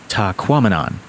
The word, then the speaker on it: Tahquamenon: Okay, rhymes with phenomenon. You can do this. Tahquamenon.